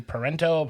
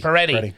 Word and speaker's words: Peretti: Chelsea Parento? Oh, Peretti? Peretti.